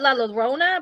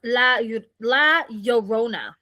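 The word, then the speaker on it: La Llorona: Well, see, we call it Laona, but it says here it's pronounced La Yorona, right?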